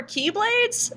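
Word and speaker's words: χ-blade: word key it's with the Greek letter Chi which is an X but they pronounce it as key because hey why not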